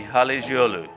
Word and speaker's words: Halıcıoğlu: you a little tutorial so the C becomes a G and the G does not exist so everybody with me Hallie's Yalu okay did they get